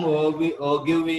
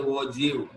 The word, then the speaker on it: ogive: The term ogive is pronounced as a ogive.